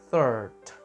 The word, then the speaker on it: third: ini teman-teman yang ketiga third third jadi cara pengucapannya gigit lidah thir jadi third gitu nah diambil juga dari